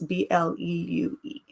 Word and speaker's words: Bleue: is a girl, it's Bleue. So bleu is technically how you would pronounce her name, but I was just being fancy and wanted her to have a fancy spelling.